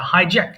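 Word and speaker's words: hijack: hit heated heated আচ্ছা হাইজ্যাক ছিন্তাই করা এখানেও কিন্তু জ সাউন্ডটা কিন্তু শক্ত হবে হ্যাঁ হাইজ্যাক হাই হাইজ্যাক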